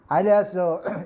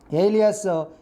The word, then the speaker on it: alias: utter this word alias alias is a wrong pronunciation alias alias is a correct pronunciation according to oxford dictionary otherwise known as generally